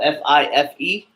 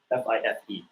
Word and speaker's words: Fife: So 5 sounds like fire, right? So, see, it's spelled F-I-F-E. F-I-F-E. So Fife. So you want to pronunciate the F's. Yeah. So Fife is how you say it over the 1MC if you say it.